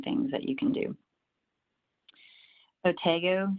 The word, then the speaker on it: Otago: Otago, some people pronounce it Otago.